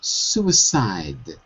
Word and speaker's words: suicide: This word is suicide. Suicide. That's it. Not seed, but side.